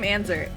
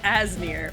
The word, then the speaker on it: Asnir: I also just realized I've been pronouncing your name Anzer. It's Asnir.